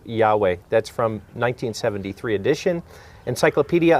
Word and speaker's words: Yahweh: collegiate dictionary it says jehovah or jehovah is a false reading of the hebrew yahweh that's from 1973 edition